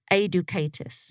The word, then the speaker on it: Aidukaitis: last name is pronounced a ducatus okay so it's close it's kind of like educate us as a kind of